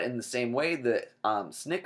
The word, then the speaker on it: SNCC: Nonviolent Coordinating Committee and the way we pronounce it is snick so not SNCC we say snick and they use colleges